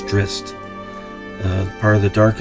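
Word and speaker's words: Drizzt: I used to pronounce him as Drizz, but it's Drist.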